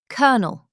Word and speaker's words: colonel: Colonel sounds like kernel.